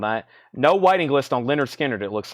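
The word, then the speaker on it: Lynyrd Skynyrd: then the very popular Leonard skinnard pronounced Leonard skinnard $64.99 for pronounced Leonard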